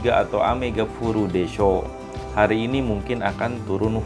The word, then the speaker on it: でしょう: Desho. Mungkin jangan salah pengucapan ya, bukan desyo tapi desho.